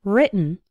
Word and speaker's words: written: and the past participle written the i in write is like in the words night and bite write but the i in written written is like in the words sit and bit written write written another